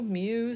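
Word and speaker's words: μ: It's pronounced mu.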